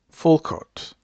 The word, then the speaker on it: Foucault: Well, I'm trying to describe what Michelle Fulcott, I'm going to spell it just in case I've butchered his name.